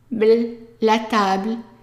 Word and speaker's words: table: The next word here, remember A is an A, so la table, and the E is silent. La table. And remember, emphasis on the ta.